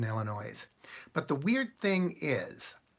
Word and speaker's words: Illinois: that I know there's you don't pronounce the S in Illinois but the weird thing